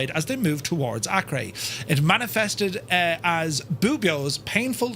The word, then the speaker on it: Acre: I thought it was Acre, A-C-R-E, but I was told it's Acre.